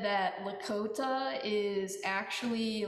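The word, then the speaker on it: Lakȟóta: a like Bach has like a sound, so it's like Lakota. Like, you know, I'm working on it, but that's one thing. And she also spells it with an X to like mark it phonetically, L-A-K-X-O-T-A.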